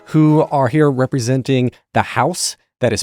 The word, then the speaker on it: Haus: I'm and our guests for this episode are Casemar Vayz and Nia Thomas who are here representing the house that is spelled h a s no relation to the